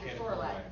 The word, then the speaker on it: ketorolac: Yeah, Ketorolac.